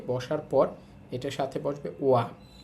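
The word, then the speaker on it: は: পর এটার সাথে বসবে ওয়া। এটা হচ্ছে হা, কিন্তু পার্টিকেল হিসাবে বসলে তখন এটার উচ্চারণ হয় ওয়া, এখানে পার্টিকেল হিসাবে বসছে।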